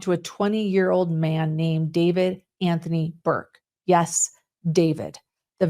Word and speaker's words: d4vd: He was a 20-year-old rising star in the music world, better known to fans as David, pronounced David, but spelled D4 VD.